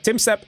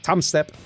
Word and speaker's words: Tom Step: a little upset that I say Tim Step instead of Tom Step. I know it says Tom Step, but you pronounce his name Tim Step. It's just how it's pronounced.